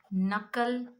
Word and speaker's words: knuckle: So in the beginning, if you get K and N words, the K becomes silent. You have to pronounce the N sound. So examples: knife, knee, not, knit, know, known, knowledge, knuckle, night, new.